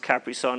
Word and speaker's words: Capri Sun: with the capri sun and i know it's pronounced capri sun i'm being funny don't make fun of me